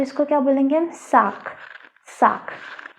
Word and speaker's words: sac: SAC का मतलब होता है बैग, इसको हम बोलते हैं साक, साक। अब देखो इसमें सी का क साउंड आ रहा है ना, तो इसको क्या बोलेंगे हम, साक, साक।